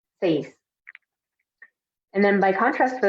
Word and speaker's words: seis: So remember when we were pronouncing this one, that the E and the I together is going to make really one sound. So we're not saying like seis, like pronouncing the E and the I separately, but we're saying it as one with seis, seis.